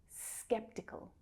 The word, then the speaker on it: skeptical: Skeptical. Skeptical. So that first syllable is the strongest. Skeptical. Second syllable is unstressed, and the third is actually what we call a syllabic consonant.